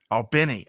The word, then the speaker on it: Albany: Just Albany. Albany. I always get it wrong. I love that. Everybody but people from Albany say right. But I've been corrected. I have a very good friend from Albany, and I've been corrected multiple times.